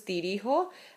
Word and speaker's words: dirijo: Reason being, you want to preserve pronunciation. This is dirijo and this is dirigir. They sound similar. If I were to put a G there, it would be dirigo.